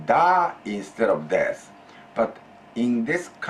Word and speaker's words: だ: And then casually among your close friends or within your family, you may say da instead of des.